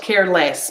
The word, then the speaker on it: careless: of the adjective right so the adjective less l-e-s-s if i use that word by itself does have a strong vowel sound an x but when i'm using it as a suffix it's an uh okay so i have careless mindless helpless not care less mindless helpless careless mindless helpless and the same